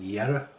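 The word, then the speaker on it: Jera: together the pronunciation or the sound of it, Yera, it's a year, very similar sound, and a lot of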